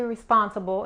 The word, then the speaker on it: responsible: Y la L al final, cuando nosotros pronunciamos la L en inglés, no arqueamos la lengua para atrás. ¿Okay? La punta de la lengua es mucho más cerca de los dientes frontales.